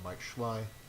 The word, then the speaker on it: Mike Schley: Good work from Mike Schley. Yes, that is how you pronounce his name.